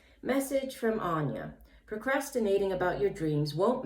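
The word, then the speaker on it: Áine: first of all the the goddess herself yes pronounced anya so i did pronounce it incorrectly sorry for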